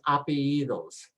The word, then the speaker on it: apellidos: The last names are referred to as apellidos. The double L is a Y sound. So you say ape, ape, and then say y, dos.